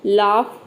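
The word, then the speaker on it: laugh: रहे हैं ठीक है तो किसी भी वर्ड के अंत में अगर जीएच आता है तो वहां पे जीएच को आपको क्या पढ़ना है फॉफ पढ़ना है जैसे कि आप एग्जांपल समझ सकते हैं लाफ कफ रफ टफ ठीक है रूल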